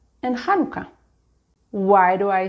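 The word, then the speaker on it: חנוכה: But if you want to pronounce these words properly as they are in Hebrew, you need to use the letter chet, making a ch sound. So it's just chala, chanukia, Chanukah.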